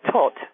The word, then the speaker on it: Thoth: And theirs were Osiris, Isis, Nephthys, and Set, not to forget Tot, or Thoth, as some people pronounce it, who was the great teacher of writing and all the arts and sciences.